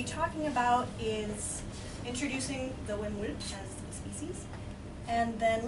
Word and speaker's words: Hammerle: So the Hammerle is pronounced Hammerle. The way I remember this is to say way. So takes some time getting used to.